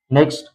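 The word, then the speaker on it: knock: Next के silent, यानी के कब साइलेंट रहता है।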